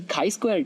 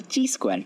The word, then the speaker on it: chi-square: And the next thing is the chi-square test, or also called as the chi-square test. You can pronounce it both ways.